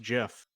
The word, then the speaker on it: GIF: feel to know that one of your fellow computer scientists said it's pronounced jif because it was a